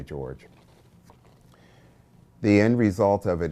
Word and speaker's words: Jorge: began to call me jorge which my name is spelled j-o-r-g-e it's scottish it is not jorge it's george i know if you